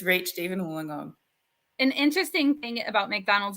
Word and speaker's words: Wollongong: And then you, though, live on the side down here called Wollongong.